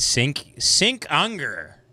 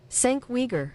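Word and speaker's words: Cenk Uygur: Isn't it Sink Unger? Here we go. Hold on. Sink Uger. Yeah. Look, fifth down pronunciation. Sank Uyghur. That's how you say this motherfucker's last name? You gotta be fucking kidding me. Sank Uyghur. Sank Uyghur.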